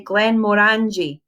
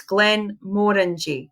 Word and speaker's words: Glenmorangie: Glenmorangie you sit so a lot of people say it wrong apparently they say Glenmorangie Glenmorangie but people who are in the know will tell you that it's Glenn more than G which is Glenn more like more orangie Glenn more orangie